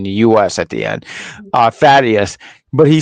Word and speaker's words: Thaddeus: Thaddeus. Okay, because there was like 2 A's and a D in the U.S. at the end. Thaddeus.